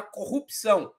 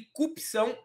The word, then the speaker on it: corrupção: Ele não conseguiu pronunciar da maneira correta a palavra corrupção. Ele falou corrupção e cupção em várias ocasiões.